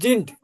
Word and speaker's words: sind: সিন্ট না, জিন্ট। জিন্ড, এসের পরে ভাল থাকলে বর্গজ Sind, হচ্ছে yes.